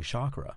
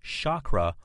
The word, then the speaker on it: chakra: And by the way, the word is pronounced chakra or chakra. It's spelled C-H-A-K-R-A, pronounced with an S sound or a C sound. Either is appropriate.